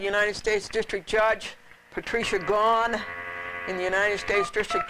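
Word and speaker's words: Gaughan: Gone, you pronounce it. Yeah. Here today and gone tomorrow?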